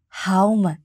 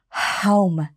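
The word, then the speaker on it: Һаумы: Хаума. Представьте, что вы задуваете свечку широко открытым ртом и произносите это слово. Хаума.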